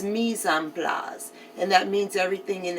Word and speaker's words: mise en place: And it's spelled like mice in place. M-I-C-E. And then a space N, and then a space P-L-A-S. But it's mise en place.